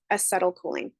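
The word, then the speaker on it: acetylcholine: CLE choline I went ahead and wrote it phonetically for you because it is kind of a funny sounding name okay aetl choline is an example of a neurotransmitter cool cool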